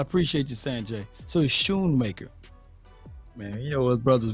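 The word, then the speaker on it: Schoemaker: his show it's true it's Shoemaker that c is silent I appreciate you Sanjay so he's Shoon maker man you know what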